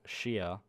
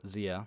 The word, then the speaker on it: Zia: i'll go one-handed and my name will be zia and now that's a chinese japanese word and if you know if you know it from chinese or japanese you might pronounce it shia but i use a anglicized version of zia so that's how i'll pronounce it for the rest of this play through and it is is